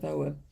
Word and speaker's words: Ogham: I can always forget and pronounce it Ogham instead of Ogham.